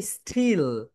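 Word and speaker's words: still: কারণে এটাকে তোমরা বলবে স্টিল। বলো স্টিল। ওকে শাহরিয়ার, আনমিট ইয়োরসেলফ। বলো তো আপু, এটাকে তুমি কি বলতে এর আগে? স্টিল, কিন্তু এস এর পরে টি থাকার কারণে এটা রাইট প্রোনাউন্সিয়েশন হবে স্টিল।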